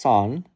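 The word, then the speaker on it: 三: This is because the number three is pronounced son and the number nine is pronounced Q.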